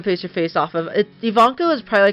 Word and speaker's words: Ivanka: Ian that's how you say her name right Ivanka um so yeah here I was just looking up a good picture to base her face off of yeah it is Ivanka I didn't remember if that was her name